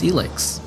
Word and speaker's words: ELEX: And now we know how to pronounce the name, it's ELEX.